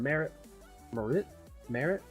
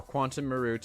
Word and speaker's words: quantum meruit: unfair business practices money had and received quantum Marit Marit Marit is that supposed to be I don't know